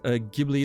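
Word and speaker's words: Ghibli: one day I'm sure it's pronounced gibli like GIF is pronounced GIF okay so gibli then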